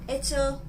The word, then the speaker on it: hecho: You know, as we said before on a different video, the pronunciation of 'HECHO' and 'ECHO' is the same because the 'h'... we don't pronounce that letter but when it comes